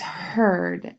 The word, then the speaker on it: heard: our next word is heard again it's spelled with an e a r but it does not say ear it says ER so the column that